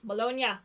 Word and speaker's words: Bologna: Bologna.